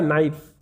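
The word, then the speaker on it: knife: है डी ठीक है दूसरा है नाइफ है ना नाइफ नाइफ में साइलेंट लेटर क्या है के क्या हो जाएगा के यानी कि के को हम नाइफ नहीं पढ़ते हैं क्या बोलते हैं नाइफ बोलते हैं नेक्स्ट वर्ड है हमारे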